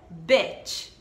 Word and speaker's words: bitch: Mas a pronúncia então é bitch. Bitch, como se fosse um e, bitch.